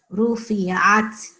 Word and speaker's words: رفعت: So not ru, it's not ru, it is ru. You have to like roll your tongue a little when you say it.